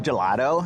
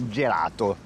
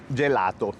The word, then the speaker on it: gelato: Gelato. Gelato. With a soft T at the end.